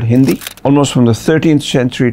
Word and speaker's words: Hind: So they used to pronounce it as Hind, and that is why everything here was grouped together.